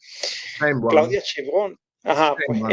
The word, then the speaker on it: Sheinbaum: Siempre el apellido se me dificulta pronunciarlo, Sheinbaum.